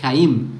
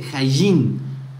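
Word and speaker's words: חיים: No sabe decir la palabra Jaim, él dice Jayim, como la letra Jin ni siquiera existe en el hebreo, solo en el hebreo yemenita.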